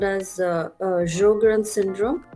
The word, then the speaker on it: Sjögren: going to study what is called as uh jogarin syndrome it's pronounced as jogren okay and we'll study the clinical presentation what